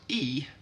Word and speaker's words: I: And then we have I, which in Swedish is pronounced E.